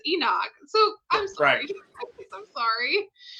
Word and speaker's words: Enoch: enough a thanks Amanda Enoch oh I'm saying it wrong not it's Enoch I'm sorry see the